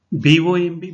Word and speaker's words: bomb: You see, B-O-M-B, bomb. Here one letter is silent, that is B.